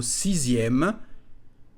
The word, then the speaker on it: sixième: Attention à la prononciation du mot sixième. La lettre X se prononce comme un Z.